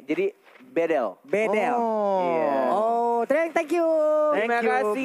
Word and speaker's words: BDL: Dari mahasiswa Turki, dia bilang, Bang Kornet bacanya bukan Bedel, jadi tapi E-nya dibaca semuanya E. Jadi Bedel.